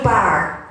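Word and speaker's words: Bart: when Charles de Gaulle spoke about resistance, Andrew Barr, now it's spelled B-A-R-T, but it was Andrew Barr, he was a heavy porter in the hospital.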